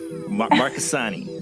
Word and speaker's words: Marchesani: Marchesani, right? Okay. No, you got the CH down. It's like Chianti, and you totally nailed it.